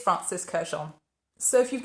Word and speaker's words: Kurkdjian: the name repeatedly, and they say it Francis Kurkdjian. And I have been pronouncing it wrong in every single video I have made throughout my lifetime on YouTube, 5 years.